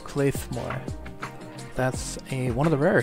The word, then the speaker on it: Claidheamh Mòr: The TF2 Wiki says that's pronounced Claidheamh Mòr.